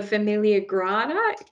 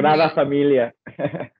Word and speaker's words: Sagrada Familia: the famous monuments and what's it called, the Familia Grada, if I've pronounced that correctly. You're Spanish. You're not your Spanish, but your Spanish is probably better than me. Sagrada Familia.